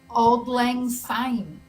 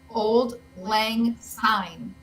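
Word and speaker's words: Auld Lang Syne: each little token kept isn't it old anine or have I've been singing it wrong all these years isn't it what old anine uh so it's spelled Old Lang sign okay a u l d l a n g s y and e oh wow I'd like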